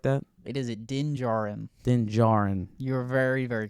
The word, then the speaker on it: Din Djarin: Is it like Da Jin or something like that? It is Din Djarin.